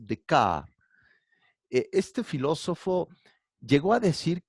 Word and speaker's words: Descartes: Se escribe Descartes, pero se pronuncia en francés Descartes.